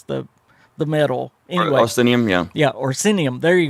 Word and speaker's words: Orsinium: It's called Legacy, and I know I'm going to mispronounce this. It's about the orcs. Oricinium? Did I say that right? It's the metal. Anyway, Orsinium, yeah.